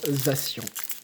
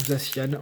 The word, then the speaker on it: Zacian: Du coup, on continue avec le booster Zacian, ou Zacian, moi je vais les prononcer en français.